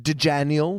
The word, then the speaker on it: Dejaniel: So I like Dejaniel because that's sort of like got DJ and Daniel in it, and it's also The J horrible. is silent. Yeah, the J is silent, like in jogging.